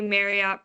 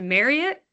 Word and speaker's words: Marriott: talk about is a Marriott breach, or as I recently found out, it is pronounced Marriott, not Marriott. I have pronounced it Marriott my entire life, so I don't know